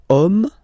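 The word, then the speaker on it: homme: we get the word om man okay but then it starts with Ash as in French Ash is not pronounced so the first sound that we hear is O Okay and then it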